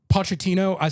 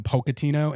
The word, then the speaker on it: Pochettino: The Pochettino, so on the stream I was calling him Pocatino, and then I shortened that to Poke, which is not the correct pronunciation, but I think I'm going to keep calling him that.